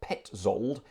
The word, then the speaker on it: Petzold: It's spelt Petzold, pronounced Petzold, and this was for many years attributed to the great j.s.Sebastian Bach.